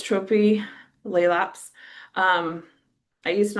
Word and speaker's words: Tropilaelaps: So, it's Trophy Laps.